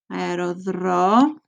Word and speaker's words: αεροδρόμιο: Aerodromio. See the difference? You're going to pronounce the E-O here because here the epsilon comes before the O. Okay, so it's different than over here.